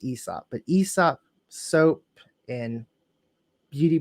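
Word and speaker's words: Aēsop: for the brand ESOP which I used to pronounce as Aesop but I did some research before today and I found out it's called It's pronounced ESOP but ESOP soap in beauty products that's who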